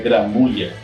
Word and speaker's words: Gramuglia: O nome dela é Laura Gramulha, ou Gramuglia, que eu acho que a pronúncia correta seria Gramulha. Não sei, os italianos aí que me corrijam.